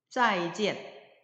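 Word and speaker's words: 再见: 볼견자는 지엔으로 발음하는데 성모와 운모를 결합해서 지엔이라는 발음 위에 사성 성조가 표기되어 있으므로 지엔 이렇게 발음하시면 되겠고요. 이 두 글자를 합하면 짜이지엔 짜이지엔이라는 하나의 단어로서 헤어질 때 하는 인사, 안녕히 가세요, 안녕히 계세요 라는 뜻을 가진 그 인사로 이해하시면 되겠습니다.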